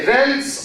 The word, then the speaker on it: event: is no evil it's a valid okay the events of the Middle East are occurring very rapidly